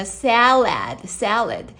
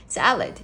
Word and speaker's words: salad: 자, 셀라드 에어. 에어가 두 번이나 들어가기 때문에 salad salad 이렇게 입을 엄청 크게 벌려야 외국인 같은 발음이 나오는 거예요.